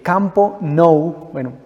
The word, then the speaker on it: Camp Nou: Imagínense que en el año 2016, Barcelona, en su propio estadio, el Camp Nou, así se dice, así se escribe, para todos los aficionados al fútbol.